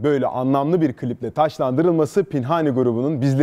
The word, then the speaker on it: Pinhani: Bir de sürahi gibi okunuyor. Sizin okuduğunuz gibi. Yani Pinhani.